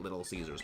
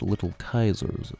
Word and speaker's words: Little Caesars: and we'd always get Little Caesar's Pizza though technically it should not be pronounced Little Caesars it should be pronounced little Kaisers Pizza cuz in Latin C does not make the S sound in a e makes